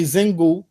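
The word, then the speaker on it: Xingu: don't forget we say zingu right we call that we we pronounce the x z because that was the original pronunciation of the x when you see when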